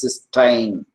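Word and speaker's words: cystine: is pronounced cine and this dulfi form is pronounced as ctin K sytin and this is cine and third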